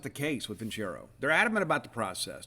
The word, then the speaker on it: Vincero: Vincero is offering a special 15% off for Boneyard